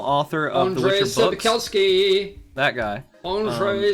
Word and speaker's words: Sapkowski: Sapkowski. That guy. Andrzej Sapkowski.